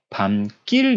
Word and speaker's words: 밤길: 않습니다 그러니까 예를 들어볼게요 밤 길 얘는 우리가 밤 길이라고 볼 수 있으 부를 수 있음에도 불구하고 우리는 발음을 어떻게 합니까 방 낄 이라 하죠 그렇죠 우리 이렇게 바른